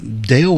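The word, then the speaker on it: Delle: know yeah but U she spells her name d e l l e but it's pronounced the same way Dale so it's kind of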